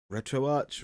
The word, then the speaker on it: RetroArch: to retroarch retroarch retroarc I'm not sure which it's supposed to be um I'll go I've been going with retroarch this whole time I've recently heard John Lindemann off digital Foundry pronounce it as retroarc but I'm I'm going to stick with what I know which is retro watch now I've been talking